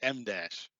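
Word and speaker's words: em dash: You pronounce it M dash.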